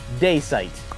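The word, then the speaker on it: Daysight: see in the chat that's how you say his name yes day site like opposite of night to day and then the thing you do with your have you with your eyes sight day sight that's him but you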